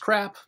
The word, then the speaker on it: CRAAP: purpose of a resource sometimes it's pronounced crap other times crop do you want to